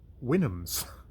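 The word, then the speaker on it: Houyhnhnms: it has helpful notes, and apparently that is pronounced Winhams.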